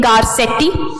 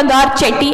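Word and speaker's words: Garcetti: यूएस के जो ambassador हैं टू इंडिया, उनका नाम है एरिक गारसेटी, उन्होंने, या गारचेटी, आई थिंक दोनों प्रोनाउंसिएशन ही सही है।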